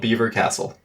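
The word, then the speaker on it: Belvoir Castle: to make vanilla raccoons beaver beaver it's called Beaver Castle what that's how you pronounce it it's ridiculous Carlo was absolutely right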